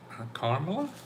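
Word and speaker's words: Kamala: But more importantly, I was just looking at uh, an analysis of Carmela, that's how you say her name, about what she's interested in, and particularly on the economic side.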